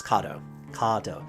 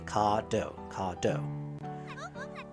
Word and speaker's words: Kado: eyes lit with excit it's kado kado it's a short a kado kado I've been expecting you